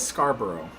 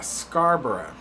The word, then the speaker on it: Scarborough: Oh, Puddin says it's pronounced bruh. Okay, so it is like Edinburgh. So, yeah, Scarborough.